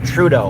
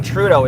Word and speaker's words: Trudeau: And IE Candy says, we are dumping Trudeau, which you actually say Trudeau is the Anglican way. Trudeau would be the French pronunciation.